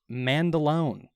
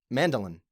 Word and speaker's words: Mandaloun: Second, Mandaloun. Mandaloun. Mandolin.